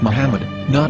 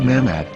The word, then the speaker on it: Muhammad: According to Ben Yehuda's Hebrew English Dictionary, it is correctly pronounced as Muhammad, not Mamad.